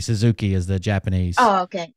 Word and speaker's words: Suzuki: you guys put inflection on it is a Suzuki Suzuki is the Japanese oh okay um right so